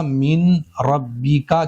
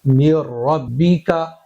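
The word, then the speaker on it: من ربك: मीन रब्बी का की जगह पढ़ेंगे म रब्बी का। यह जो नून है फुल साइलेंट हो चुका है।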